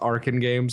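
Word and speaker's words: Arcen Games: it's like meow fits in that company nowadays Aran games as it is and it is it is actually pronounced Aran games I learned that a couple of days back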